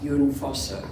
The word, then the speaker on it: Jon Fosse: It's spelled Jon. The Norwegian is Jon Fosse.